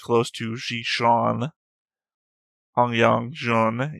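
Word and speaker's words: Hanguang-jun: Hongyang Jun is like Han Guan Jun.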